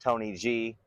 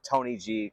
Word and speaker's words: TNYG: So TNYG is how it's spelled, but it's pronounced Tony G.